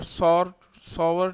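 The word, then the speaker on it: sour: Number one, acids have सॉवर test. इसको हम सौर भी पढ़ते हैं आमतौर पे, लेकिन सावर उसका सही प्रोनाउंसिएशन है.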